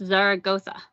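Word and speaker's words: Zaragoza: Heman for explaining that he said Zara Goa is in Spain and it's pronounced Zar Goa it's question and answer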